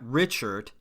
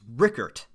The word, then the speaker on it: Richert: his last name wrong it's not Richard it's Richert I said boy did